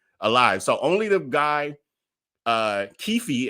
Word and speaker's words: Keffe D: So only the guy, Keffe, as y'all telling me it's pronounced, and I just heard